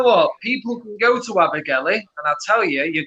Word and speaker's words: Abergele: So it's spelt Alpha, Bravo, Echo, Romeo, Golf, Echo, Lima, Echo, Abergelly, You're starting to scare.